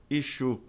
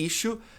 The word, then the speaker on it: issue: A maioria das pessoas pronuncia ichu, ichu, mas éu, palavra super importante, tá? Pode significar assunto ou é um problema, algo que tem que ser discutido e resolvido ou uma edição de revista. A pronúncia é issue e tem o verbo também.